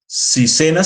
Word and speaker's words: SENA: servicio nacional de aprendizaje sena se puede pronunciar como palabra natural en español ya no va a